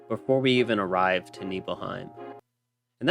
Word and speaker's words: Nibelheim: we even arrive to neheim and that's how you say it right neheim that's how I've always said it I don't know how you guys say it but it's neheim now once we get to